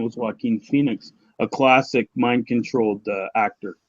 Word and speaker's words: Joaquin: the names Jachin or Joaquin, because the J in many cases in modern times, the J is silent. So we have Joaquin Phoenix, right?